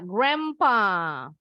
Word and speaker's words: grandpa: Begitu juga grandpa. D-nya silent, N-nya berubah bunyi jadi M. Grandpa.